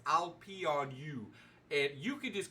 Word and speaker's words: Peranaught: And by the way, those who don't know how to say my name, it's I'll pee on you.